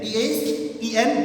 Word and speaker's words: then: T-H-E-N, then. T-H-A-N, than. Clear? So, spelling is different.